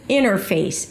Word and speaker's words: interface: Now when the t appears after an n it is often dropped. So you may say something like inner inner inner face and then it's just the word face as in look at her face innerface in her face.